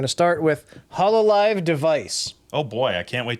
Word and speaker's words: DEV_IS: and we know that it is not an app devis like we thought last week thank you for clarifying how you pronounce it because I actually had no idea when you said it just now was the first time I learned how to say it uh you can pronounce it device or uh if you're speaking with a Japanese accent deviceu but that's kind of